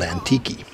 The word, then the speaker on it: Antique: Resort up in antique spelled antique but it's called antiki the beach Resort's owned